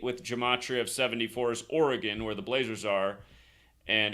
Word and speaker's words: Oregon: the only state with jamatri of 74 is Oregon where the Blazers are and again for all